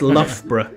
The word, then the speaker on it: Loughborough: It's Loughborough is how it's Where is pronounced.